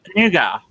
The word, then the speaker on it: nougat: why not uh nougat nugget okay but it distinctively has a t oh yeah the t is definitely there yes because we say nougat yeah that came up